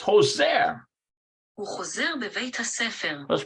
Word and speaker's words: חוזר: It's Hoser. הוא חוזר בבית הספר. Let's pronounce Hoser.